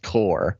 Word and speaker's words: corps: community corps like i get at the corporations pronounced core yeah i know but come on man come